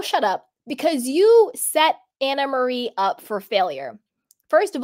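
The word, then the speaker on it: Annemarie: and speaking of it she does pronounce her name Anna Marie I had this Troll and my comments a little bit back was like I can't listen to someone who doesn't know how to pronounce her name it's an Marie and I would and I was like I'm pretty sure she pronounces it Anna Marie and she does she does it's Anna Marie so hi troll thank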